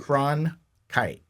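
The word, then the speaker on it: Cronkite: kite Walter con kite cron kite cron like a crone and then a kite like you fly a kite okay good because I'm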